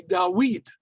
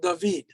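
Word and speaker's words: דָּוִד: arabic is pronounced so it would be dawid not david so right now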